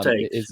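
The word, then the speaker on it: Toetz: Paul Tetz, is that how you pronounce it? Paul Tates, yeah.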